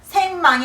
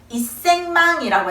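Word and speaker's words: 一千万: 구만 천만 은요 이생망네 천만 할 때도 그냥 생망이 아니라 이생망이라고 해서 1천만이라고 읽어 주세요 마지막으로 억은 이찌 오그 그냥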